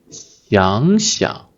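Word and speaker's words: 想想: So when this 想, the third tone verb used in reduplication, it changed to the second tone, 想, 想想, 想想, and the second character is a gentle tone.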